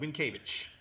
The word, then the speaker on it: Mientkiewicz: Mentkiewicz. Which, of course, is? Doug Mientkiewicz.